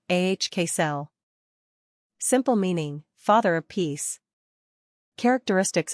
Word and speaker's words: Axel: pronunciation ahk cell meaning father of peace